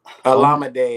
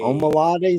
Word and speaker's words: Olamide: And then Zacchaeus, I can't pronounce his first. Is it Olamide? Omalade Zacchaeus? Olamide.